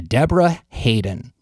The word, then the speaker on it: Debra Haden: you a little of the world according to Deborah Hayden Deborah Deborah Hayden I'm pronouncing that right because it's important to pronounce